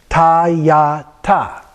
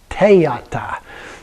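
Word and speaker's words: tadyatha: And the same with ta-ya-ta. Okay, so here you put in kind of an E sound, ta-ya-ta, ta-ya-ta. And so some people even pronounce it te-ya-ta, okay, which isn't technically correct, but it comes very close to that, or ta-ya-ta.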